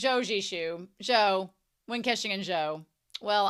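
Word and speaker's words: Zhou: Joe and Joe have I been saying his name wrong the whole time Joe XU Jo Jo Jo Jo I've been saying Xiao and it's Jo it's Z xishu because it's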